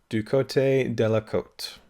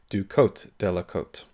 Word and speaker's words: Du Côté de la Côte: you're about to see, I pronounce this film as Du Côte de la Côte, and that is wrong. And I might still be wrong with the correct pronunciation of Du Côté de la Côte, but I'd heard someone say it in a video and I thought, oh god, I got it wrong. So just so you're aware,